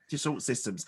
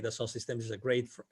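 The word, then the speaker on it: Dassault Systèmes: So was it, I don't know how to pronounce, Dassault Systems? Yes. Dassault Systems.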